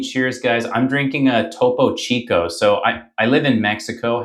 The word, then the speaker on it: Topo Chico: How do I pronounce it? Topo Chico? Topo Chico.